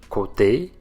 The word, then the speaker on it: côté: Quand il y a un accent circonflexe sur le O, côte, côté, le son est le O fermé. La bouche est plus fermée et arrondie quand on le prononce.